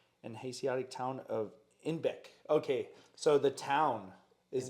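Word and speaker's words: Einbeck: Due to their Bavarian accent, citizens of Munich pronounce Inbeck as Inbock, a billy goat.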